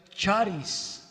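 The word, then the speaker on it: χάρις: palabra gracia es una palabra griega que se pronuncia charis charis es un nombre charis la cual significa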